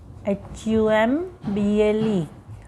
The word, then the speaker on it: humble: पर अभी यहाँ पे देखिए, मैं एक और वर्ड ऐड कर देती हूँ, HUMBLE। तो इसकी प्रोनाउंस एच से ह ही हुई, तो यहाँ पे आएगा ए।